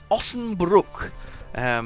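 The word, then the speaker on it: Osnabrück: So, I did learn how to pronounce it. It's Ossenbruck.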